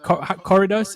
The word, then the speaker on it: corridos: You said the stuff, the corridos. Is that, how do you say that? Corridos. Corridos. yeah. You got to roll your R.